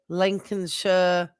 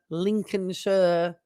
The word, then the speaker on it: Lincolnshire: if it's you know that shire at the end is pronounced sure. So it' be like woristers, Hampshire, Lincolnshire, Lincolnshire, Nottinghamshire.